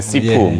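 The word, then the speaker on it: 师傅: 자, 중국 하면 우리가 익숙한 영어, 중국 영어를 많이 보면, 시부, 네, 따커, 예. 발음은 제가 시푸라고도. 네, 시푸, 따커, 이런.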